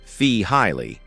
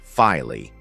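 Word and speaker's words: Feehily: Take a moment to listen to Mark Fihilly, pronounced Fee Highly, not Fily.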